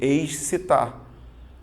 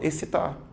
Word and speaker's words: excitar: olhando para palavra porque quando você olha para a palavra você está vendo X e o c aí você tende a fazer excitar mas veja que quando você tá espontaneamente conversando você fala excitar ou seja esses dois elementos representam apenas um som apenas o fonema essa tá vendo você